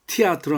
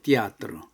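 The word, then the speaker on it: театр: 극장을 띠아르라 합니다. 티아트로 하면 안 됩니다. 띠아드.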